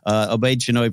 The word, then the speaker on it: Obaid-Chinoy: Obaid-Chinoy project.